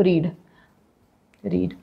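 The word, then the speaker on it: read: यूज करते हैं, तो रीड। अब एक चीज बता देती हूँ, रीड स्पेलिंग जो होता है वो सेम होता है, लेकिन हम प्रोनाउंस कैसे करते हैं, रीड रेड।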